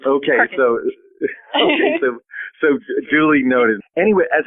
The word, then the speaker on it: Perkasie: Perkasie. I've never met somebody from outside of the area that can say it right, so it's Perkasie.